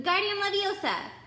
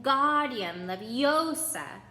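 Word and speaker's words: Wingardium Leviosa: arm like a windmill you're saying it wrong Harry heard her - that it's when gaudium love Yosa make the GAR nice and long you do it then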